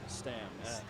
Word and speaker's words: Stams: Stams.